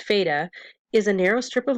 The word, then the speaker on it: FATA: seen in the map the fata or pronounced feta is a narrow strip